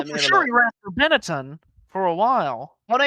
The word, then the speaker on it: Benetton: You lot over there really butcher that name, Benetton. It's Benetton, thank you.